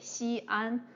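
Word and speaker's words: Xi'an: new are and similarly the city in ancient city she an um well she is a syllable an is another syllable um we use this apostrophe she so that we know it's two syllables she well by the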